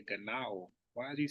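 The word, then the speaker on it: γεννάω: He keeps saying Ganeo. That's just bad pronunciation of the Latin and Greek. If you just press the play button, it's going to say Ganao.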